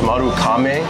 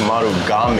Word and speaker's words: Marugame: like you said there's i think originally it was maru kame and then they changed it to maru game and now it's back to kameh so either way it's correct tomato tomato as long